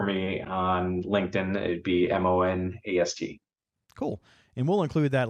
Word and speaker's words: Monast: It was originally Mona, then they added an ST, but they still pronounce it as Mona. So I go as either way, Monast or Mona.